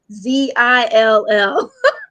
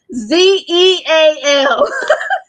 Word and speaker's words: Zeallionaire: Facebook to Instagram, at Zillionaire. So that's ZEALLIONAIRE. It is not ZILL. Even though I spell it, people are like ZILL, ZEAL. 2 L's.